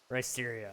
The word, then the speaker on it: Risterio: Really, Risterio? I I just I I figured it was kind of like uh Mysterio and Ryan probably and so I just assumed that that was how you wanted it pronounced.